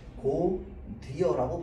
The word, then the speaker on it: 곧이어: 자, 다음 얘는 어떻게 발음합니까? 고디어라고 발음해야 됩니다. 왜? 이어는 의미를 가지고 있기 때문에 실질적인.